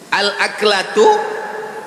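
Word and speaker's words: الأكلة: Al-aklatu bifathil hamzah. Cara membacanya, hamzahnya baris atas, a.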